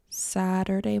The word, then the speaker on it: Saturday: So, to pronounce Saturday very naturally, I want you to change the U to an E and then change the T to a D. Okay? So pronounce it like Saturday. Much easier to say than Saturday. Amy.